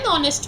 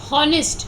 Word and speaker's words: honest: syllable that means an honest man you are not going honest you don't say an honest man a honest man you don't say because h is silent here all the ascent is